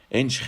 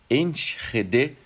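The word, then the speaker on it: Enschede: tá minha pronúncia e eu falava ench eles fala não você tem que pronunciar o e também então enrede pronunciando o e no final essa cidade fica no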